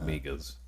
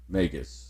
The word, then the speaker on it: Magus: mostly obviously not pronounced megas no megas like a mage or like the Magi the three dudes who